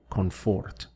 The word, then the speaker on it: confort: So, zona de confort. Remember that here we have an N instead of an M, so it's important to make that clear in your pronunciation.